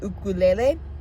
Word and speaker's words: ukulele: That's the correct way to pronounce the instrument, by the way, ukulele.